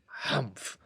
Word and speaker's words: humph: read this story aloud please pronounce humph exactly as it is spelt for that is how he said it hamph do you know until